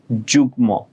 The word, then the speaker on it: যুগ্ম: বাট এই একটা ব্যতিক্রম রুলস যে মাঝে মধ্যে মফলার উচ্চারণ হয়ে যায়, কখন? যুগ্ম, আমরা কিন্তু যুগ্ম বলি না, যুগ্ম, যুগ্ম সাধারণ সম্পাদক, ঠিক আছে, তো যুগ্ম বলি, ঠিক আছে।